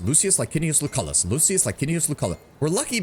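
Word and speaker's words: Lucullus: Lucius Linius Lucalis. Lucius Linius Lucalis. Lucius Linius Lucalis. We're lucky because the hard C helps break up the L sound, I think, in his name.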